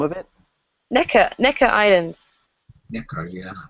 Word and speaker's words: Necker: Necker Island. Necker, yeah. Spell that. Yeah. Like a neck, and then ER. Oh, Necker.